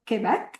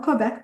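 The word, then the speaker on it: Québec: Right now, I'm currently in Montreal, Quebec, in Canada. Some people call it Quebec, but it's actually pronounced Quebec.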